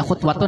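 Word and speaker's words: خُطْوَةٌ: Khutwatun, bila bacanya khutwatun dengan dhammah, sesuatu antara 2 telapak kakinya.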